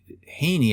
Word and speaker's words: Heaney: And Haney, I think, is right. His name is spelled Heene, but his name's also Seamus. So Seamus is Sheamus. Heeney is Heaney, right?